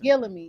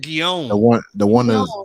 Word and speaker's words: Guillaume: Gillamy, yeah, that guy. You pronounce it Guillaume.